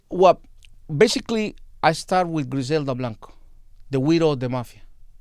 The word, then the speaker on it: Griselda Blanco: Griselda Blanco.